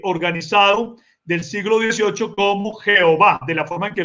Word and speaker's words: Jehová: jehova jehova o Jehová Bueno aquí me confundo leyéndolo como y pero realmente es la y consonante se lee es como una J sí se le es o Jehová Jehová y entonces queda en